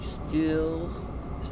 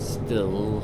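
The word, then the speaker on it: Stihl: And now we're entering the yard of the steel. I keep saying steel, like the German tool, the power tool, weed whackers and stuff, leaf blowers. Steel, not still. I guess they're pronounced the same way.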